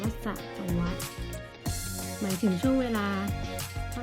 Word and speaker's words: สหัสวรรษ: จะ Swatch นะ คะ อ่าน ว่า สะ สะ วัต หมาย ถึง ช่วง เวลา